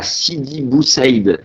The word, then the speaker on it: Sidi Bou Saïd: T'es né le 8 juillet 77 à Sidi Bou Saïd. Je l'ai bien prononcé ?